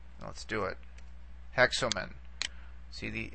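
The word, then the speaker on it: ἕξομεν: So you see here, this has a rough breathing mark and an accent on that syllable. Okay. You're going to have the same issue here. Hexomen.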